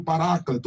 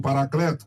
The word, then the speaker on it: Paráclito: Ele é também chamado do Paráclito, ou Paracleto, como queira pronunciar.